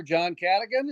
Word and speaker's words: Cadigan: John Cadigan. Is that how you pronounce his name? Yes, Kevin.